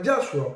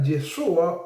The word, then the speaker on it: Yeshua: ley, es decir, aparece Yeshua. Okay. No lo puedes pronunciar Yahhua porque no tiene esa y no aparece ninguna forma escrita. Entonces el nombre era Yeshua o en su forma